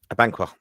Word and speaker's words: Abankwah: Abankwah. Oh, good to see you pronounce it right.